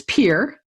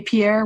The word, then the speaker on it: Pierre: If you say Pierre, we know right away you are not from these parts. So, okay. Pierre, South Dakota. Pierre. I like that. Pierre rhymes with beer.